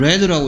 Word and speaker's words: read: 얘는 당연히 레드라고 읽어야 되겠죠, 레드.